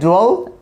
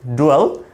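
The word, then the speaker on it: dwell: হচ্ছে আমাদের বসবাস করা আমরা এটাকে ডুয়েল উচ্চারণ করতে পারি ডুয়েল নট ডিয়েল এরকম না এটা আমরা বলব ডুয়েল ডুয়েল অথবা আমরা বলতে পারি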